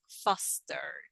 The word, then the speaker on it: fostered: And in the past tense we have fostered. Fostered. Fostered is the past tense. Again, the e is mute and we just pronounce the d, fostered.